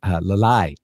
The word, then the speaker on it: Lalai: hi to right now, it's Lalai, just like the song, la la la la la la la. Just so you know, and that's how you say it.